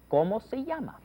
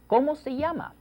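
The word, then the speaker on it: llamas: the key expression is kyama yeah notice that Double L is pronounced like a y oh kyama Kama uhhuh that's it's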